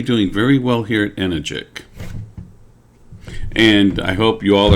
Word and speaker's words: Enagic: something weird okay and the company name is energic and not enagic okay and just because you like to say enagic rhymes with magic doesn't mean that's the pronunciation of